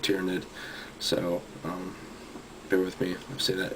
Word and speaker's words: tyranid: guys I tell you I always call it tyrannid it's like engraved in me even though everyone pronounces it tyranid so um bear with